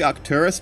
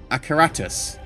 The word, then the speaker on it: Acaratus: I always say it wrong. I want to say Arcturus because the star, but Acaratus. I will always say Arcturus though, so sorry about that.